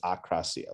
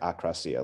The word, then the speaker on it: akrasia: Yeah, I believe it's akrasia. Like when I've heard. Like akrasia, like a, like akrasia. The prefix, like against, like I think it's, and then krasia, I believe is will or is, so when I've heard it spoken about, I believe that's the correct pronunciation.